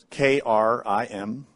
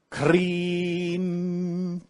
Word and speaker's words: Krim: Sanskrit, which we spell K-R-I-M, but it's pronounced Krim. So that I is an E sound.